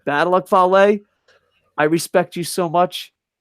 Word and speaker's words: Fale: Bad Luck Fale, and I used to call, do you notice I pronounce his name right? That's respect. Not Bad Luck Fail anymore. Bad Luck Fale, I respect you so much that you're not everyone's chair.